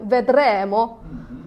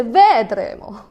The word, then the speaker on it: vedremo: And the Italian language, if you speak Italian language, you know that the Italian word have specific accento, like vedremo. We couldn't say vedremo.